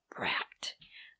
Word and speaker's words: bract: petal, it's called a bract. I can't pronounce it right. Bract. B-R-A-C-T. I have problems pronouncing that.